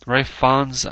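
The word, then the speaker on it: Ralph Fiennes: It stars Sam Worthington as Perseus, Liam Neeson as Zeus, Refons, actually, I think that's the way it's pronounced.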